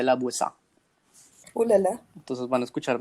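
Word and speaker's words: La Voisin: Se escribe Voisin, pero como es francesa se dice Lavoisier.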